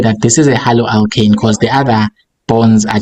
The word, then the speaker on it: haloalkane: Isn't it a halo alkaline? Halo. So how do you say it? Halo alkaline. Huh? Haloalkane. Haloalkane. Yes, haloalkane.